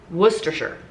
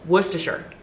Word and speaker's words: Worcestershire: is what they said from england worcestershire that's what they said worcestershire that is how it's pronounced and for the two